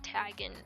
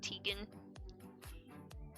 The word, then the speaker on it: Tegan: I guess that's how you say his name. Even though it looks like it's spelled like tagen. Tigan, but it's not. It's Tegan.